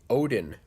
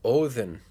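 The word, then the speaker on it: Óðinn: nuts when people say Odin. The Norse didn't call their god Odin. They pronounced it Odin. There's a TH sound in there. Odin. Like thin.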